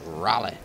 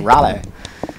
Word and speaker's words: Raleigh: Raleigh. Raleigh? Raleigh.